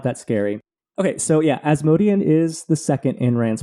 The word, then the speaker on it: Asmodean: going to be, and that's going to be Asmodean. I don't know how you pronounce it in your fancy...